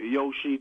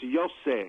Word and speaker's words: Yosef: Yosef just told me to tell you we usually make fun of that because most of our friends in Iowa call him Yoshi too, but it's Yosef.